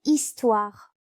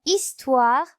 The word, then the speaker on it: histoire: Elle ne se prononce pas comme dans le mot histoire. Dans histoire, je vois la lettre H sans la lettre P à côté.